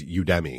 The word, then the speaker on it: Udemy: And honestly, I'm glad they included a pronunciation guide because I assumed it was Udemy. Like, hey, it's from Udemy. Right. But that's not, it's Udemy. Udemy.